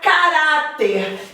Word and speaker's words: caráter: A palavra caráter. Caráter tem como sílaba tônica urá.